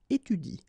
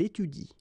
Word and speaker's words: étudie: pronounce it like il étudie. Okay? So the last thing that you will pronounce will be the vowel I here. Okay? Il étudie.